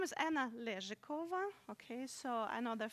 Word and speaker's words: Anna Lezhikova: is Anna and then obviously it oh I pronounce it no hello good my name is Anna lyric over okay so I know there's a couple of